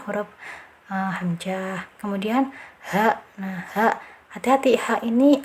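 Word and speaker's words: ح: Ha masih tenggorokan ya. Jadi jangan sampai pengucapan ha ini keluar di dada. Nah, itu yang keliru karena ha ini bukan dari dada, hanya dari tenggorokan yang bawah.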